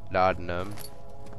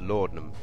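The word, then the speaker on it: laudanum: what was in here lard numb tender box i think it's actually pronounced lordnum but um i don't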